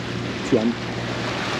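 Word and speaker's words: Tuent: Après la cala Calobra, il y a la cala Tuan, T-U-E-N-T, Tuan, ça prononcerait comme ça.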